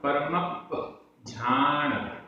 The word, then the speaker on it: परमप्पझाण: पवयण पवयण सारभासम सारभासम आधा ब सारभासम परमप्प परमप्प आधा पा पूरा पा परमप्प झाण आधा झ परमप्प झाण परमप्पझाण ऐसे बोलेंगे, परमप्पझाण, क्योंकि आधे जा का उच्चारण भी चाहिए है।